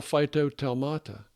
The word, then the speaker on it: phytotelmata: How do you pronounce it? Phytotelma. A phytotelma. Phytotelma. Plural phytotelmata.